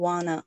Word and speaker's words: want to: 근데 want to가 발음할 때는 I don't wanna. wanna로 들리죠.